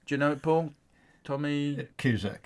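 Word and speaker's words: Tomasz Kuszczak: Yeah, but have a go trying to pronounce his Just name. have a go. Thomas Do you know it, Paul? Tommy Cusack. Cusack.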